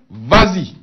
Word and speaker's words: vas-y: et « y », on ajoute un « s » pour faciliter la prononciation simplement. On dit par exemple « vas-y ». Vous voyez ?« Vas-y ».